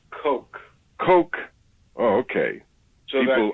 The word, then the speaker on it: Koch: It's pronounced Coke.